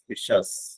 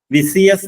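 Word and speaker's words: vicious: ഐ ഓ യു എസ് വിഷസ് വിസിയസ് എന്ന് നിങ്ങൾ ഉച്ചരിക്കരുത് പല ആൾക്കാരും ഉച്ചരിച്ച് ഞാൻ കേട്ടിട്ടുണ്ട് അതുകൊണ്ടാണ് നിങ്ങളോട് പറഞ്ഞത് വിഷസ് എന്നാണ് അതിന്റെ ശരിയായ ഉച്ചാരണം ലാസ്റ്റ് വൺ ഈസ് ദിസ്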